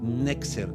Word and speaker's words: Netzer: Nexer, así se escribe el cumplimiento esio y el nacimiento del movimiento nazareno.